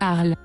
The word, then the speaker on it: Harley: If Harley is French, then her name is pronounced Arl.